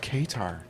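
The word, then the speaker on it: Qatar: the yeah the tabs that's cutter it's i've heard it pronounced katar asked him what he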